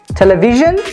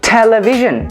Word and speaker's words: television: photography we say photography another example television we do not say television we say television we have the stress on t television photography accept coming up